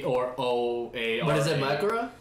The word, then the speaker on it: Mahoraga: It's like spelled like M-A-H, yeah. Like A or O-A-R-A. But is it Mahoraga?